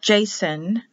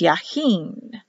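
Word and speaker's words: יכין: it's below the line so it's actually pronounced not jason or jason it's yaheen y for power k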